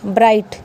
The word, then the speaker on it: bright: BRIGHT ब्राइट, क्योंकि vowel के बाद में जी आया है।